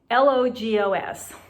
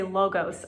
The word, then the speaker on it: logos: to persuasion is logos l-o-g-o-s some people say logos i say logos and logos means the